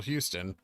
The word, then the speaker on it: Houston: Houston, Texas was named after Samuel Houston, pronounced the same say as the city.